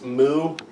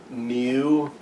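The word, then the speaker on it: μ: Because most people, it's moo. I've also heard mew with like a Y sound in the middle.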